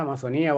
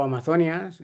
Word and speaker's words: Amazonía: La Amazonía, siempre tenemos idea, Amazonía o Amazonias, según la RAE se puede pronunciar de las dos maneras y escribir con tilde o sin ella.